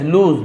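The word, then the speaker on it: lose: इफ आई लूज my balance, लूज लॉस नहीं है, लूज लूज यानी खो देना, यदि मैं अपना संतुलन खो देता हूं, है ना, तो देखिए इसे पढ़ना भी आपको बता रहा हूं, सही प्रोनाउंसिएशन होता है लूज, लूज यानी खो देना।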